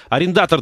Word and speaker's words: арендатор: таким причём арендатор Да правильно говорить арендатор вот в нашей нынешней